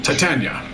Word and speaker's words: Titania: He's like, "My master is Queen Titiana of the Summer Court." Yeah, Queen Titties. I got it. Yeah, I know. Sure, right. Perhaps I will use the alternative pronunciation, Titania.